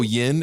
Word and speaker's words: yin: what the yang is i always go yin as like the good because it rhymes with win and then yang is